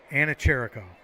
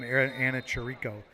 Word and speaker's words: Anacherico: There, I got to put the emphasis on the right syllable. Anacherico. All last season I was calling him Anacherico, trying to get that out of my head.